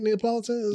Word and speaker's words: Neapolitan: got the my favorite is the it's that pronounced that right Neapolitan you did you did yeah good job brother